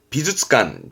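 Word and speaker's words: 美術館: 비주츠관, 비주츠관.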